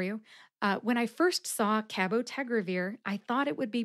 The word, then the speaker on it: cabotegravir: Revere has five syllables Ka like cat Bow like a hunting bow tag which rhymes with keg like a keg of beer that's right I said